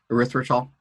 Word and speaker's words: erythritol: Is there any merit to, like, you see erythritol, is that what it's called? The natural sweeteners that they say. Erythritol. Is that, I've been pronouncing it wrong for years.